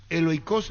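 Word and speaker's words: Aiolikos: Viene de Eolikos, digo bien, de Grecia, así se pronuncia.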